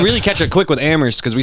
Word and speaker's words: Amherst: He's like, said- it's Amherst. I came I'm up like, out of Amherst where the H is silent.